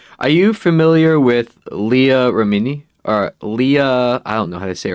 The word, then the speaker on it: Remini: Are you familiar with Leah Remini?